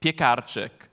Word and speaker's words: Piekarczyk: In Polish, it's Piekarczyk, but in the US and literally everywhere else in the world, it's a little harder, right?